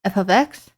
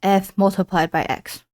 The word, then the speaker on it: f(x): f ofx is pronounced f ofx and not f * x.